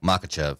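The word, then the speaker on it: Makhachev: Makachev.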